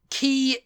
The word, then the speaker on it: Quay: like that I'm like key is is how it's pronounced q u a y is key no it's Quay no